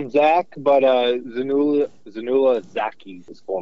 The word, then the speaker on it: Zainullah Zaki: What is the interpreter's proper pronunciation of his name? So we just call him Zach, but Zainullah Zaki is his full name.